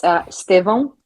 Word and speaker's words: Estevão: I understand because of the little thing that we have on in terms of, it's almost like an accent, nasally sound, but whatever.